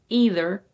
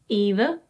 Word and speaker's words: either: But the first one, either, is a bit more common.